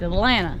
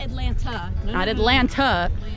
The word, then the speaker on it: Atlanta: you live in Atlanta you don't pronounce the second seat its Atlanta not Atlanta Atlanta are you tired